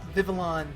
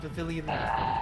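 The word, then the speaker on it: Vivillon: out on my mispronunciation it's uh vivalon not Vilan whatever Vilan VII lion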